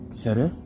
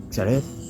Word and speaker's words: xeref: Xeref. You can say it as in like as in good, or you can say it like and then round your lips. So xeref or xeref.